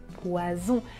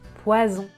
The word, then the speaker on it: poison: deux fonds poissons oiseaux ici je n'utilise pas la voix mais quand je prononce le sont j'utilise la voie était ça la différence poisson poison